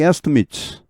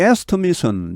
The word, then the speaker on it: estimate: 여기 estimate은 명사일 때, 동사일 때 발음이 달라집니다. 명사일 때는 estimate 해서 뒤쪽이 좀 약하게 발음됩니다. 동사일 때는 달라집니다. 뒤쪽을 더 세게 발음하죠. estimate 해서 길어지고 이렇게 더 세게 발음됩니다.